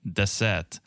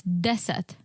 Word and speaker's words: deset: Google said like deset, and then Alexa said dese. It's deset. Deset. Yeah. So both were wrong.